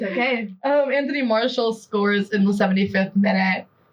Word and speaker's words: Martial: It's Anthony Martial. That's not Marshall. It's Anthony Martial. That's how I... Anyways, whatever. I'll apologize next week. It's okay. Anthony Martial scores in the 75th minute.